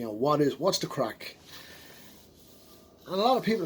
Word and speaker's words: craic: you maddie what does crack mean what is crack well in the states in here i mean you can just it's it's different meanings you know it's it's spelled c-r-a-i-c not c-r-a-c-k so what we mean